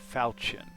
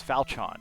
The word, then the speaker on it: falchion: what is that thing falchion falchion what no it's falchon just falchon falcon with an h actually when i the